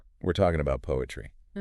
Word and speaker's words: PoAItry: And just for clarity, even though it's spelled P O A I T R Y, the project guidance says to pronounce it simply as poetry.